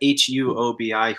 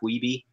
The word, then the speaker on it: Huobi: It's on how do you say that? HUOBI, Huobi. I just call it Huobi. Yeah.